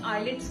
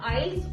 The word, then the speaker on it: IELTS: तो उन बच्चों को आई वांट टू से कि बेटा आइल्स और आइलेट्स इट इज वन एंड the same thing, बस आइलेट्स के टी को साइलेंट कर दिया गया है एंड इट is pronounced as आइल्स।